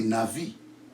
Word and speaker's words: navi: Je vous ai dit la vraie prononciation du prophète en hébreu, ce n'est pas Nabi, c'est Navi.